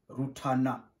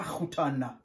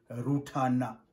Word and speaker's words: Rutana: On prononce Rutana. Ce n'est pas Rutana, impossible. C'est Rutana. Répète avec moi. Rutana. Encore une fois. Rutana. Rutana. La province de Rutana est au sud-est du Burundi. Tu arrives à Rutana.